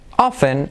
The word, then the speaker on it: often: Es curioso porque often se puede pronunciar la T o no, ¿vale? Pues es a tu gusto. Yo no la digo, yo digo often. Como que often. Pero hay gente que lo pronuncia often.